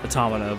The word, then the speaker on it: Automata: do it for near automata I know it's automata but I'd like to say it like automata Pia and yeah generally